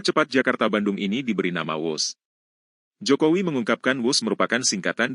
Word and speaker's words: Whoosh: Dan kereta cepat ini kita namakan WUS. W-H-O-O-S-H. Dibaca WUS. Ini diinspirasi dari suara yang melesat dari kereta berkecepatan tinggi ini. Dan singkatan dari waktu hemat, operasi optimal, sistem hebat. Sekali lagi, W-H-O-O-S-H, tapi bacanya WUS.